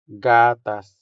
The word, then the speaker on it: gatas: The third word here is milk, which is gatas in Hiligaynon. Gatas. Gatas. The stress here falls on the first syllable, making the first a sound longer than the second one.